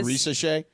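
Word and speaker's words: Risacher: We're talking Zachary Risa Shea. And we Ball pronounced it knowers.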